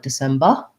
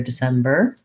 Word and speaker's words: December: for a long time so you want to just watch out for trying not to let it become an uh schwa like december but rather december but without saying december strongly december lots of other